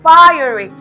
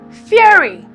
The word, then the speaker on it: fiery: Fiery. It is commonly mispronounced as fury because of this fury, but it is fiery.